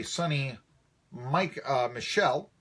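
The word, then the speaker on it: Sony Michel: Of course, it was on a 27-yard run by Sonny Michel. I believe that's how he pronounces his name, Sonny Michel.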